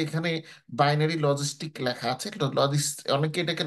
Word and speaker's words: logistic: রিগ্রেশনে আসার পরে দেখেন যে এখানে বাইনারি লজিস্টিক লেখা আছে। অনেকে এটাকে লজিস্টিক্স উচ্চারণ করেন, এটা লজিস্টিক্স না, এটার সঠিক উচ্চারণ হচ্ছে লজিস্টিক।